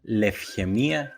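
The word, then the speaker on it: λευχαιμία: En el segundo caso se pueden pronunciar como af, ev, como por ejemplo en las palabras taftología, que significa tautología, o en la palabra lefgemia, que significa leucemia.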